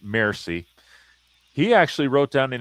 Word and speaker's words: Mersey: In fact, the British maritime counselor, Lord Mersey, and that's actually how his name is pronounced, Mersey.